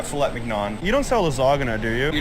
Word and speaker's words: lasagna: You don't sell lasagna, do you? You're not talking lasagna. Lasagna, yeah. Don't pronounce the G.